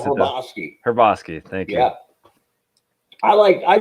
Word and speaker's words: Hrabosky: He and like Hrbosky? No, I'm pronouncing that wrong. The Mad Hungarian. Yeah, how do you pronounce it? Hrbosky.